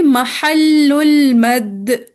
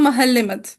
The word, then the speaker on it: महल्लुल मद: एक टर्म आएगी महल्लुल मद। ठीक है, जैसे उर्दू प्रोनाउंसिएशन में बोलते हैं महल मद। ठीक है, महल्लुल मद। ठीक है, एक टर्म क्या यूज करेंगे हम।